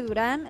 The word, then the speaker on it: Durán: Es Durán, Durán con acento en la A.